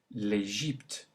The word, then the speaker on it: l'Égypte: Now the Y, say l'Égypte. Note the E sound in the middle. Say it again. L'Égypte.